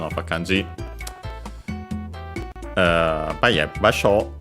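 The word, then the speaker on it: 場所: But yeah, basho means is unaccented and means place, location, spot, position, area.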